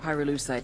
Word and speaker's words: pyrolusite: You know what pyrolusite is, right? Yeah, neither did I. Pyrolusite, key syllable pyro, by the way, is the shit